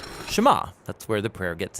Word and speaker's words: Shema: is hear or listen which in hebrew is pronounced Shema that's where the prayer gets its name now